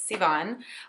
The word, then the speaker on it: Sivan: My name is Sivan, and if you just say it like naturally, it's Sivan.